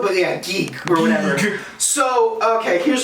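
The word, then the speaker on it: ギーグ: It's supposed to be pronounced Gigu, but yeah, Geek or whatever.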